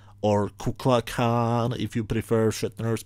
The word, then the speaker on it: Kukulkan: and suddenly the serpent himself appears, the real Kukulkan, or Kuklakan, if you prefer Shatner's pronunciation.